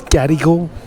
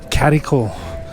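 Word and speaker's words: Gadigal: to BST I always used to always pronounce is gadal like making note to the G but apparently the best way to pronounce it is Catal so pronounce the G is the c wonder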